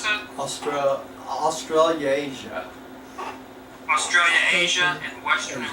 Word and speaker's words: Australasia: How do you pronounce that? Australasia.